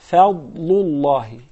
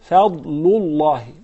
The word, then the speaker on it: فضل الله: Notice the dad is a tafkhim letter, so you say fadlullahi, fadlullahi, okay?